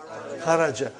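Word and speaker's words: خَرَجْ: Say it properly. Kharaj. With sukun. You won't say with? No. You will say kharaj.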